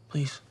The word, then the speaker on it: please: Please, no. Please, no. Por favor, não. O E e o A nessa palavra você pronuncia com som de I. E o E no final dela você não vai pronunciar.